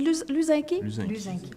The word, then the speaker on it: Luzinski: Ah, on dit Luzinski? Luzinski, je veux bien le prononcer.